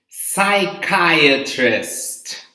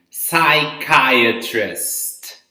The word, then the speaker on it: psychiatrist: You don't pronounce the letter P, okay? So in this case, this word is psychiatrist, okay?